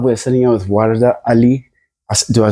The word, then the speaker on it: Warda Ali: We're sitting here with Warda Ali. Do I pronounce it right?